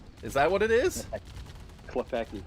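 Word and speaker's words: Klepacki: Klepecki, yeah. Okay, that's not so bad then. Like, it's spelled way scarier than that.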